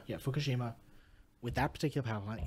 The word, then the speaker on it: Fukushima: Yeah, Fukushima.